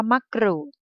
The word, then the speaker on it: มะกรูด: โกร่ง นะ คะ อ่าน ว่า มะกรูด ใช่ ไหม คะ กู จะ ออก เสียง ก กับ เรา เรือ พร้อม กัน ใช่ ไหม